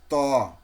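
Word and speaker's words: طاء: এই যে আগাটা দাঁতের গোড়ায় দেখেন কিভাবে ঠেকে গেছে, এইভাবে এই দাঁতের ওই দাঁতের গোড়ায় তালু বরাবর সাথে দাঁতের গোড়া তালু প্লাস মিলিয়ে তটা উচ্চারণ হবে।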